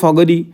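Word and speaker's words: forgery: কি, আমরা বলতে পারি ফর্জারি, ঠিক আছে, আমরা ফগারি বলি, ফগারি, ও আরটা সাইলেন্ট করি, ঠিক আছে, ফগারি যাই বলবে, তাহলে বি ইজ the correct answer.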